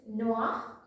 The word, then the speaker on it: noir: Okay, now black, so it's noir, noir. Spelling is different. Here we are adding extra e, but the pronunciation is same, both, noir, noir.